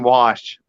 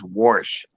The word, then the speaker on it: wash: is just weird foreign wash does does wash have an r in it no but everything says warsh Becky it's like it doesn't have an r in it w-a-s-h where do you get